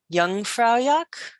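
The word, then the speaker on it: Jungfraujoch: Europe is also known as young fra yak and if you think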